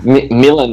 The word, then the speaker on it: Milan: It's like Milan's like how you pronounce the city, right? Yeah. That's why. Milan. That's why. Call me Milan. Call me Milan. It's all the same, you know. Yeah. But in, I pronounce my name, and everyone in Belgium pronounces it as Milan. Milan. So emphasis on the like, Milan. Milan. Milan.